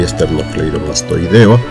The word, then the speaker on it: esternocleidomastoideo: Y en el caso de electroencefalograma y esternocleidomastoideo, la sílaba tónica es la penúltima y son palabras graves.